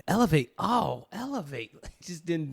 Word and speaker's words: LAV8: was like l-a-v-8 and how do you say it elevate l-a-v-a wow nice so